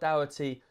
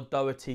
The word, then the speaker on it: Doherty: of style to what dowity um or Doherty sorry the way they pronounced it um was bombing down